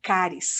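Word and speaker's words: χάρις: Estevão cheio de graça a palavra graça em grego se pronuncia cáries que venha a palavra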